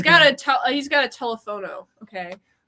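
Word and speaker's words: teléfono: a He's got a telephono. Okay. You saying that cuz he's Mexican. Well, it's actually pronounced telephano if I was doing it in Mexican.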